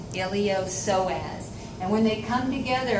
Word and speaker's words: iliopsoas: called ilio so adds the P is silent iliopsoas and when they come